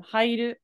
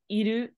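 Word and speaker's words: 入る: So I'm just letting you know in this context, it's pronounced as haite nai from hairu, not iru.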